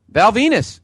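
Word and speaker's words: Val Venis: Val Venus. Rhymes with penis.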